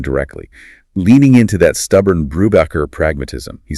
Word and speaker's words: Brubacher: always had in Ontario, Brubacher. Hasten, the proud fourth-generation Austrian industrialist, stops him cold. He corrects him using Sebastian Bach as an example, making it clear. Respect the heritage, pronounce it Brubacher, or this interview is over.